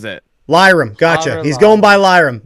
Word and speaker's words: Lirim: Lyram, gotcha. He's going by Lyram. That's what we're doing here. He's going by Lyram at the show. It's Liam with an R.